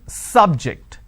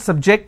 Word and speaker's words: subject: is an interesting subject I am stressing on the first syllable so I say biology is an interesting please don't subject the students to any tests so here my stress has moved to the second syllable for example when I